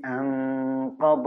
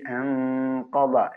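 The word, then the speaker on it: أنقض: മറ്റൊരു കാര്യം, അല്ലദീ അൻഖദ ദഹ്റക് അല്ലദീ അൻഖദ. നൂനിനെ മറച്ച് മണിക്കണം. അതേസമയം ഖാഫിന്റെ ഉച്ചാരണത്തോട് അടുത്താണ് മണിക്കുന്നത്. അൻഖദ അൻഖദ.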